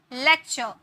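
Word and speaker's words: lecture: rule number five है यदि किसी वर्ड में टी के के बाद यू आरई आता है तो उसमें उसे हम टी को च में प्रोनाउंस करते हैं फ्यूचर नेचर यू आरई आता है ना लेक्चर टी के बाद यू आरई आया तो उसे चर में प्रोनाउंस किए लेक्चर र लास्ट में अगर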